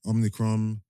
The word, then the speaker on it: Omicron: Omicron, whatever it's blood.